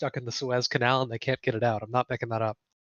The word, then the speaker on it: Suez: The pronounce price it? of oil should go Suez up. Canal? Yeah, SUEZ.